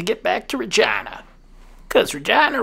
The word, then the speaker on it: Regina: back to regina cause regina rhymes with fun